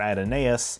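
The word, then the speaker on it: Adonais: the Greek guide Apollo and who Mourns for adonus and yes that's how it's pronounced and a giant space amoeba in the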